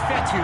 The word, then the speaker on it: Fetu: have passed it so coach fethu spelled fetu for the longest time i was pronouncing it coach fedo like feta cheese so let's just say